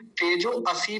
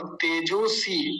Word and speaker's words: तेजोऽसि: तेजो असी नहीं बोलेंगे तेजो असी नहीं लिखा हुआ तेजो स तेजो स कुछ लोग जो इसका उच्चारण अ बोलते हैं अ नहीं होता इसका उच्चारण अ का लोप हो गया यहां प एक संधि के नियम के अनुसार तो क्या है ये